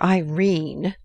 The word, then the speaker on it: Irene: a coward my daughter Irene said mrs. Carr style she made it rhyme with tureen has had no social advantages but if mr.